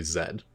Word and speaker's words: Z: it is stimo so the correct pronunciation of that letter is actually zed in english it's something that the americans changed but i think the